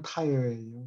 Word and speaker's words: Tyre: 타이어라고 발음합니까? 영어는 타이어예요.